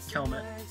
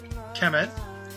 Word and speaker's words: Kemet: are reviewing K KET k k k rhymes with helmet kmet Kemet and Kemet what's Kemet G